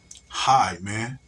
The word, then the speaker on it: hymen: High man, high, high man. You may say it's pronounced as hymen, but it's hymen. It's high man, high man.